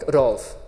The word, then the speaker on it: Rádhulbh: Yeah, it's very similar to actually how it's pronounced in English. Yeah, like Rádhulbh, yeah.